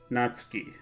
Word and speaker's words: Natsuki: it's almost always you almost swallow it the pronunciation is hardly there unless you're singing I guess not Sookie repeat after me Natsuki anyway yeah both of them seem to be